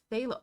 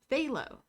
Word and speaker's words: phthalo: chill take it easy it's F spelled but it's phthalo oh okay thank you gaming rabbit phthalo silent P gotcha phthalo green oo thank